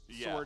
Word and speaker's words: sword: than that it's yeah funny that sword has a silent w but sorcery doesn't yeah i think that's